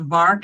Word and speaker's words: VARK: test out there called vark it rhymes with bark v-a-r-k that lets you and